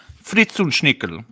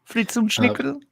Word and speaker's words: Fritzunschnickel: My name is pronounced Fritzunschnickel. Can you say it well read? Fritzunschnickel?